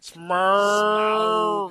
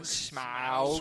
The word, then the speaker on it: Smaug: Smurg. Smaug. Smaug. Oh, does he get like really technical? Yeah, on he that goes, pronounce- He just goes Smaug.